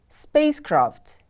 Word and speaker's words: spacecraft: The next word is spacecraft. Spacecraft is a noun. Spacecraft is a vehicle that is used for travel in outer space. Spacecraft, spacecraft. The stress is on the first syllable.